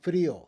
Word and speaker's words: frío: I-O, with a written accent to break the diphthong. Frío, tengo frío, I'm cold.